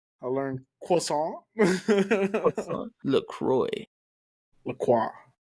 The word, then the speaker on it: La Croix: La Croix. It's pronounced La Croix.